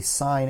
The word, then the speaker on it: sine: s-i-n and c-o-s but you wouldn't pronounce this sin you wouldn't pronounce this cost when you say them verbally you always say sine and cosine same when